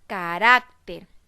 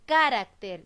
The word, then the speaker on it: carácter: con la palabra carácter la separó en sílabas yo la pronunció nuevamente para verificar cual sílaba tiene la mayor fuerza de voz para ver a la mayor fuerza de voz está en la fila barack porque yo no digo carácter ni digo carácter yo